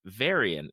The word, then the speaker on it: Varian: that you really love named Varian and I hope I'm pronouncing it correctly absolutely and you said him you said his name beautifully yay what is what